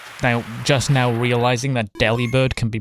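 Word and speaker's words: Delibird: But I'm pretty sure like the official pronunciation is deli bird anyway.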